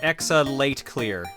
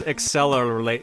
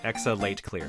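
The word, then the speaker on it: Exe:Late[cl-r]: for what it's worth the actual way to pronounce the titles undernight in birth exa late clear gotcha for some reason i thought there was an l at the end so like so i thought it was accelerate accelerator i thought it worked out like that but i guess no uh exo late clear okay for some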